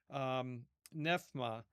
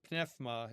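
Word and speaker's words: πνεῦμα: Now, this is interesting because in Greek, the word nephma, right, or pnephma, if you're using the modern pronunciation.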